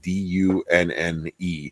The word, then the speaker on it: Dunne: So for anybody that's listening, Tom's last name is spelled D-U-N-N-E. And so it's Dunne Power, D-U-N-N-E. And every time he says anything, he's like, oh yeah, consider it done.